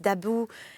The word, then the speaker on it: About: d'assolant mais excusez-moi je je j'ai mal prononcé le nom àout jeai prononcé à l'amri à l'anglaise d'about bah voilà pourquoi pas d'about non c'est pas du tout ça c'est d'Abou on va le prononcer à la française donc je vais reprendre